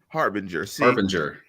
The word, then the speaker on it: harbinger: you did yes yes harbinger see i thought i was really uh my daughter's learning about soft cheese and hard g's and that that is uh that is a soft g and i was wrong